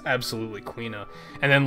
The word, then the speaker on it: Quina: Logan had the theory that it might be pronounced Kina like quiche but then I looked up the Japanese pronunciation it's absolutely quina and then like we're getting AKO soon